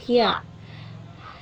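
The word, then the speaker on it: ひゃ: Berbeda jika misalkan huruf besarnya atau misalkan hiragana dasarnya itu hi, tapi diikuti dengan huruf hiragana yun tapi sedikit agak kecil, maka dibacanya adalah hya.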